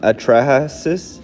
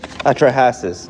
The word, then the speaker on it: Atrahasis: Um, I don't know how to pronounce atraases. Atrahasis.